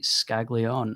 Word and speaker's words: Scaglion: Um, we are joined by the general manager of the Portland Sea Dogs, Jesse Skagleon. And I apologize immensely if I've got that name wrong.